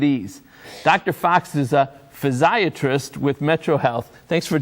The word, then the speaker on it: physiatrist: Fox is a physiatrist with metro health thanks for joining us dr.